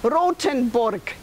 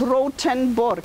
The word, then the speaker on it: Rothenburg: should not be long Rosenborg you pronounce it rough and Burke but it's rothenburg yeah yeah any other questions